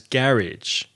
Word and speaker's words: garage: the extra vowel sound I've noticed you pronounce GA ra GE as garrage yeah of course people